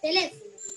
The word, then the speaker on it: teléfono: Vamos a empezar con la palabra teléfono. A ver cuántas sílabas tiene. Teléfono. Perfecto, tiene cuatro sílabas. Y ahora vamos a descubrir cuál es la sílaba tónica. Teléfono. Teléfono. Muy bien, le es la sílaba tónica. El resto son las sílabas átonas.